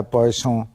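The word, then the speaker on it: Poisson: था उसके नाम पर यह पॉइस फ्रेंच लफ्स है और प्रोनाउंस भी ऐसे ही किया जाता है पॉय सों तो इसको लेट्स हैव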